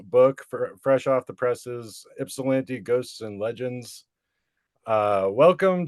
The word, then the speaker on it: Ypsilanti: of the new book fresh off the presses ipsilanti ghosts and legends uh welcome to the show K gray you said it right what ipsilanti yeah oh I was like is it not